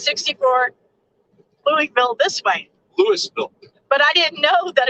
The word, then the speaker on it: Louisville: please don't say that to me just like lewisville the s is silent we live in illinois there is no